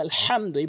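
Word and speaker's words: الحمد: ভেঙ্গে যায় বলতে হবে আলহামদু বড় হাই উচ্চারণ করতে হবে হলকের মাঝখান থেকে এ ছোট হাই উচ্চারণ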